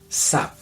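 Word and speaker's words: זב: A un hombre con este tipo de flujos, la Biblia lo llama Sav. Se escribe con dos letras hebreas, Sayin y Bet.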